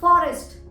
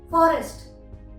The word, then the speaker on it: forest: अगर किसी वर्ड में आर के जस्ट बाद आपको वाउल साउंड सुनाई दे तो आप आर को प्रोनाउंस करेंगे, जैसे फॉरेस्ट, फॉरेस्ट। यहाँ पर स्पेलिंग है FOREST और हमने आर को प्रोनाउंस किया है क्योंकि जब हम इसको प्रोनाउंस कर रहे हैं, वर्ड को बोल रहे हैं फॉरेस्ट, तो र के बाद